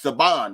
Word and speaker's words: Saban: films you see Saban anything spelled like Sabin but it's sabon because he he you